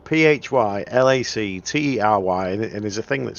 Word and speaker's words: phylactery: got a Google and type for lottery which is spelled p-h-y l-a-c-t-e-r-y and there's a thing that says how do